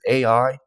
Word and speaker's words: Ai: It doesn't really have much to do with AI, but there's a city in the Bible, a Canaanite city called Ai.